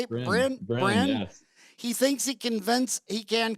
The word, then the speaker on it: Bryn: Bryn?